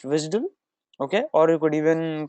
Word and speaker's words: WSDL: via the visal file okay it's called It's pronounced visal okay or you could even call it pronounce it by the letters you could say wsdl okay wsdl is web service definition language okay